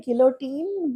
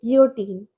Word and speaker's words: Guillotine: Like I want to say guillotine, but it's a French word. And you're supposed to say it like this, like guillotine.